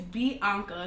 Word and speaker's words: B. Ankha: yeah they got it so my name is b anka it's pronounced exactly how it's spelled um i'm 22